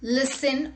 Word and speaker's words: listen: T is not pronounced in these common words. Let's look at the examples. Castle, Christmas, fasten, listen, often, whistle, thistle, bustle, hasten and rapport.